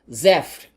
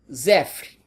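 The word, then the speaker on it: صفر: E com o nosso alfabeto se escreve assim e se pronuncia desse jeito, Zefr. Ouça de novo, Zefr.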